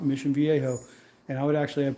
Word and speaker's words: Mission Viejo: Orange County, Mission Viejo in Spanish, the J is silent, Mission Viejo. And I would actually have people tell me, like, it's Mission Viejo.